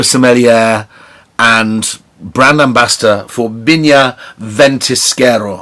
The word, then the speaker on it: Viñas Ventisquero: and brand ambassador for binya ventiskero i'd have to say binya bentiskera because we're in chile now we'd have to pronounce visas bees um and um my